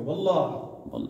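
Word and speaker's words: والله: वल्लाही, आपने सुना होगा अरबियों को, वल्लाह, वो आखिर में वो हे को वो साइलेंट कर देते हैं, उसका मतलब यही है अल्लाह की कसम है।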